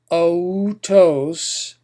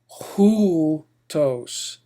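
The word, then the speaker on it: οὗτος: So instead of otos, you would pronounce this hutos. Give it a rough H sound, hutos.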